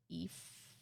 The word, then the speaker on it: Aoife: Oh, Aoife. I think they're lovely. They're really pretty names, though. Aoife. It's like pronounced like Aoife.